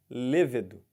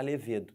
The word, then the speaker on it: levedo: é muito importante isso levedo tá aquele componente da cerveja não pode falar levedo tem que falar levedo égide égide é o